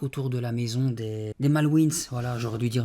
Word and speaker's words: Malwins: Voilà, j'aurais dû dire Malwin, c'est parce que ça finit par un s. Donc W I N S. Donc je me suis dit encore une fois, pourquoi mettre une lettre si on la prononce pas ?